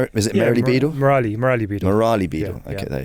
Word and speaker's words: Merali Beedle: Merali Beedle.